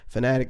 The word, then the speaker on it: Phanatic: Fanatic is spelled P-H-A-N-A-T-I-C, or Sounds for Producers on Instagram as well.